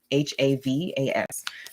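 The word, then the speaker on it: Lianne La Havas: Her name is spelled Lianne, La, L-A, Havis, Havas.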